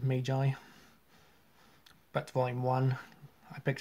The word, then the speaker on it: Magi: complex uh volume one Maggie or Magi I don't know how you would pronounce it but I would personally pronounce it Mai but volume one I